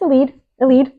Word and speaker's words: Elide: paths with the mysterious, I forget how to pronounce her name. I say Elide. Elide, okay, Elide Loken. It's Elide.